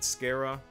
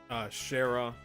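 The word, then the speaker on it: Schera: How the heck do I pronounce that name? Is it Skara? Shara? I don't know. If somebody actually knows the proper pronunciation, please let me know. Going to be waiting there for us? Sounds like a plan. You know how crazy scary she gets when someone keeps her waiting. Shara? Is that how we pronounce it? Oh, it is Shara.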